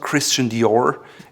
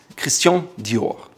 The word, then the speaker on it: Christian Dior: It's not Christian Dior, it's Christian Dior. Again, that soft R in the end, not the American R.